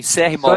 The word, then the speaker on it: CR Mall: Que pronuncia? Mall de shopping, CR Mall.